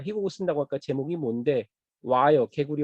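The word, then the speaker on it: 蛙: 처음에 저는 읽을 때부터 궁금했는데 개구리가 중국어 발음이 와입니다. 와.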